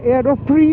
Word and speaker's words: AEROPRIX: আর আমি একজনের নতুন গ্লাভসও ইউজ করছি আজকে, যেটা হচ্ছে রাইডা এয়ারোপ্রি অথবা এয়ারোপ্রিক্স, এক্সট্রা সম্ভবত উচ্চারণ হয় না, AEROPRIX, এয়ারোপ্রি আই উড সে।